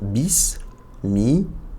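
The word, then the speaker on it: بسم: Ici on a un ba kasra sin scoun bis. Le scoun on rappelle permet de prononcer uniquement le son de la lettre. D'accord ? Bis mi donc mim kasra bismi et là on a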